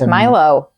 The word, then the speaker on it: Milo: It's not Milo? No. It's Milo? It could be pronounced Milo too. It's not. M-I-L-O. I looked it up. I looked it up a lot. It's Milo.